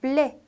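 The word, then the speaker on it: blé: 액센트가 있는 경우에 약간 입이 닫힌 상태의 에로 발음해서 에떼, 여름이라는 불어 단어예요. 두 번째, 블레, 밀이라는 단어예요.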